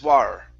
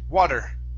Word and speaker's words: water: like War okay so your tongue has to hit the top of your mouth for that t to actually sound okay so it's D dwad water water there you go